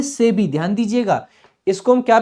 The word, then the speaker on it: SEBI: जैसे कि हमने लिखा SEBI, जिसको हम पढ़ते हैं सेबी।